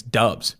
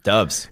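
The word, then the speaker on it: Doubs: the board because i found out how to pronounce his last name guess it's dubs dubs dubs that is sick romeo dubs that is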